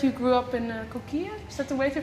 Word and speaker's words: Coquille: If I'm correct, you grew up in Coquille? Is that the way to pronounce it? Well, we would say Coquille. Coquille? Okay. In Oregon, Right. yeah. So, But it's a French word, so I'm sure at